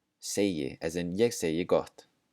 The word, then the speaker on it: segi: The G is also pronounced just like a J.